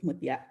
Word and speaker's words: Mutia: You said it right, Mutia.